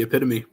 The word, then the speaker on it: epitome: the epitome and fortunately I'm pretty sure that is how you say that yes it is the epitome how you doing tonight